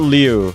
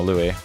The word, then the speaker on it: Louis: I'm gonna call it Louis from now on. Not Liu. Liu sucks ass. No, Louis.